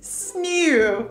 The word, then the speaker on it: sneeuw: There's a particular syllable that I find difficult. It's the like E-E-U. So like you have like schnew. I just find the word for snow very funny. Snew. Snew. Snew. Snew. It's that difficult very, to, very to pronounce.